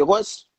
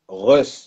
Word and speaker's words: Russ: j'écoutais encore ce matin, son livre audio, c'est Ross. Ouais, Russ. Juste, Alors Russ, ça juste.